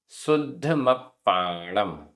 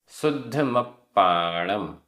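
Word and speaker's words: सुद्धमप्पाणं: शुद्धमप्पाणम, आधा द ध, आधा प पूरा प। शुद्धमप्पाणम, शुद्धमप्पाणम।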